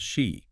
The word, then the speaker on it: Xi: They're building a framework called shei, pronounced like the Greek letter, right?